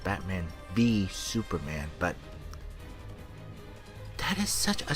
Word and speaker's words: Batman v Superman: I know it's pronounced Batman v Superman, but that is such a stupid title.